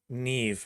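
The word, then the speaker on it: Niamh: Neve. Neve is how it's pronounced.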